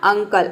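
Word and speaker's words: uncle: देख सकते हैं कि यू का अ हो गया। ठीक है, एन का हो जाएगा आपका आधा न, और सी का हो जाएगा क, और एल का हो जाएगा ल, और यहाँ पे ई साइलेंट है क्योंकि वर्ड के अंत में आया है। ये हो जाएगा आपका अंकल, अंकल मतलब चाचा।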